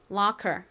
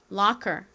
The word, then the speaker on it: locker: 그러니까 CK의 원래 소리인이 키 소리에다가이 아래 소리가 연결돼서 locker locker 이렇게 발음이 됩니다.